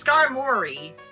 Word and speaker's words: Skarmory: No, it's Skarmory.